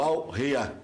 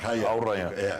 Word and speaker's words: Al-Rayyan: O jogador vai defender por empréstimo o Al-Rayyan. Ou Al-Rayyan. Qatar. Al-Rayyan. Al-Rayyan do Qatar. Se escreve com 2 Y, né? Mas é Rayyan.